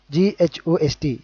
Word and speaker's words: ghost: Okay, గోస్ట్, GHOST. ఇక్కడ కూడా again here also the H is going to be silent and the pronunciation is going to be ghost.